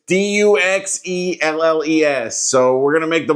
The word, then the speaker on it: Duxelles: It's Duxelles.